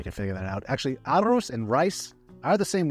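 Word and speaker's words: arroz: Arrow flying into rice Aros a r I'll spell it right here a r r o z Aros so that's just a a small example of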